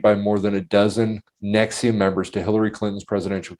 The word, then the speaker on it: NXIVM: The NXIVM is actually pronounced Nexium. Nexium.